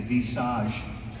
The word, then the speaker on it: visage: Gubler was able to incorporate, I'm going to talk about the Vitalite and the visage, that's how it's pronounced by the way, in French, visage super serum.